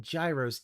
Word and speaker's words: gyros: currently on what floor why do you keep calling them Gyros if they're if they pronounce them Heroes why do you keep